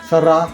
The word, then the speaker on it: สระ: ฮูก อ่าน ว่า ระวาม นำ เอา คำ ว่า ซา กับ ร ผสม กัน ออก เสียง สระ แปล ว่า หวี สระโอ